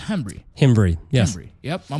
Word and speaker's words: Hembree: And last name is pronounced Hembree.